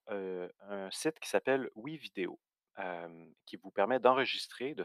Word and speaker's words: WeVideo: Ouvrez un nouvel onglet sur Google Chrome et rendez-vous sur le site de WeVideo. Ça s'écrit comme ça se prononce, W-E Vidéo.